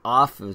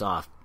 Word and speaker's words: aff: on Taps off and off in their dialect is spelled AF kilts on and in